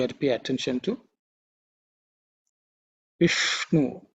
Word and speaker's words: Vishnu: Vishnu, the ish is cerebral sha. Vishnu tongue should be pointing upwards.